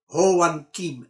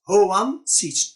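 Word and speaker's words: Hoàn Kiếm: the center of hanoi ho wan kim lake in vietnamese writing o juan king a four ranger trying to pronounce ho wan sees which is the wrong pronunciation vietnamese friend helping him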